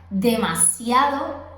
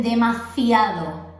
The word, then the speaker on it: demasiado: Por ejemplo, la palabra demasiado, algunos dicen demasiado. La S la convierten en Z, en C, en un sonido fuerte. Y esto no es correcto.